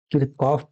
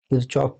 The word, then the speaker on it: Kirchhoff: या तो इसे आप किरकॉफ पढ़ सकते हैं या फिर आप इसे किरचॉफ पढ़ सकते हैं। तो आपको जो भी अच्छा लगे आप प्रोनाउंस कर सकते हैं।